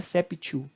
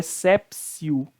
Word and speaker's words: exceptio: seria essa psiu é sepsil no adimpleti contractus porque és apps you aqui no latim UTI tem som de c então spray aqui ó